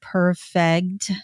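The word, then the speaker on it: Perfeggt: they're at right now there's a company called perfect it's very hard to say but it is spelled p e r f g GT they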